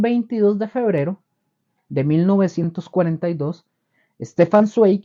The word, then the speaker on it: Stefan Zweig: Hay otro escritor y biógrafo que se llamó, este sí es un poco más difícil de pronunciar, es Stefan Zweig.